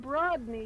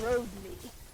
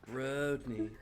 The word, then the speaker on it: Brogni: Not Brodney, it's Brogni. Brogni? name is Brogni. Brogni. His name is Brogni. James very specific. It is pronounced Bro with a long O. Brogni.